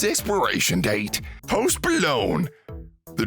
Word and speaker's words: Post Malone: Post Malone. The G is silent.